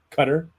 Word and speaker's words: Qatar: I think I learned no matter how you try to pronounce Qatar, you're not doing it right. Qatar? Cutter. Exactly. Cutter? Yeah.